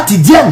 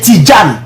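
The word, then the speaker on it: Tidjane: pas un nom ivoirien Tidan c'est même pas Tidien c'est Tidjan la vraie prononciation c'est Tidan c'est D et puis gen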